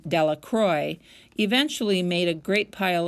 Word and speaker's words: Delacroix: Jones and Dicky delacro the villagers pronounced his name Delacroix eventually made a great